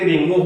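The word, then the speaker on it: ρ: भी sign of proportion remove होगा तो कोई कांस्टेंट इंट्रोड्यूस होगा वी can write it एस आ = रो ए बा एय इस तरह से लिखा जाएगा और आर एओ प्रोनाउंस किया जाएगा रो तो आ इ रो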